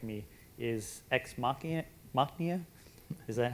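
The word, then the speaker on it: Ex Machina: and I'll have probably Dan correct me is exm Mia is that how you pronounce it exmachina yeah so how many people have seen that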